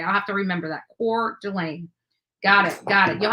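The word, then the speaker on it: Coeur d'Alene: never pronounce that properly so Idaho which is pronounced oh core Delaine Thank You Caroline for helping me out you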